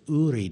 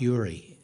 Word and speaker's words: Uri: very quietly told me it is URI not Yuri and I plead I